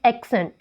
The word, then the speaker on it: accent: इसमें भी if we are using this as a noun or as an adjective then we have to mark the primary accent on the first syllable, that is accent. और जब हम इसको verb के रूप में यूज़ करेंगे तो accent तो second syllable के ऊपर accent होगी.